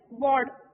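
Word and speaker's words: baud: used to measure signal rate is Bard we pronounce it as Bard okay so the unit used to measure is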